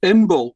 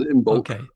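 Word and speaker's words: Imbolc: We're going to play out with Imbol song. Yeah. Am I saying it right? Imbulk. Yeah. It's got a hard C on the end. Imbulk.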